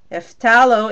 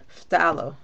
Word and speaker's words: phthalo: It's called, again, phthalo blue. I mean phthalo turquoise. Phthalo is P-H-T-H-A-L, like basically it's like halo at the end. So it's P-H and then T like Tom, T-H, and then A-L-O. Phthalo.